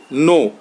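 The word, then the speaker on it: know: देख लीजिए नो है के एन ओ डब् नो ठीक है तो इसमें के साइलेंट है अंडरलाइन कर सकते हैं के को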